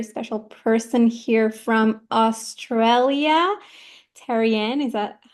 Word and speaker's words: Terriane: have a very special person here from Australia Teran is that how you spell that how you pronounce that that is how